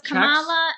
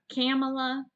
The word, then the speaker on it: Kamala: what you say right kamala kamala kamala laughs yeah kamala you put the emphasis on the wrong syllable no at least i